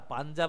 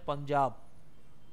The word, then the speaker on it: পাঞ্জাব: হয় বুঝতে পারো পাঞ্জাব পাঞ্জাব আমরা উচ্চারণ করি কিন্তু তার উচ্চারণ পাঞ্জাব কারণটা এইভাবে হয় পাঞ্জাব